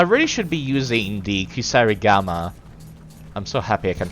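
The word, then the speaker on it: kusarigama: you know I really should be using the kusar Gama I'm so happy I can pronounce that correctly now because it's poison it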